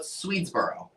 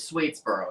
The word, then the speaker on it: Swedesboro: I asked you about Swedesboro. I thought it was Swedesboro at first, but it's Swede, like Sweden, and that's how I remember that.